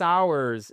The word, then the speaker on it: hours: amis, sur le fait que hours voit son H être exactement non prononcé. ? So, we've been driving we've been driving for six hours. C'est pas hours. Very important, ? C'est un des rares mots qui commence par un H dans lequel ce H n'est pas prononcé.